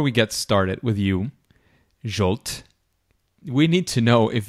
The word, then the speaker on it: Zsolt: yes I listen to anything that's close to jolt so perfect fantastic fantastic so it's a pleasure to have you here because jolt is a Creative Learning consultant at Keno with